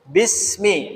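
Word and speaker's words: بسم: jadi ini ada Alif Bismi ada alifnya meski alifnya tidak dibaca bedakan dengan kalimat Bismillah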